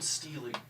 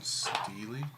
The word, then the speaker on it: stele: There is a stone stele in the middle that comes out. Script. Stone Steely? Yeah. What is a Steely? It's Stele.